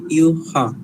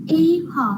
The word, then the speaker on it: Ewha: Ini memang ejaan dia EWHA tapi bunyi dia Yuha.